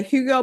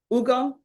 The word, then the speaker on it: Hugo: Hi, Hugo. And we have the interpreter here. Ugo, is the H is silent.